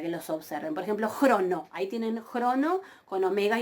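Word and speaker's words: χρόνῳ: Entonces, crono, y ven que yo no pronuncio la iota suscripta, crono.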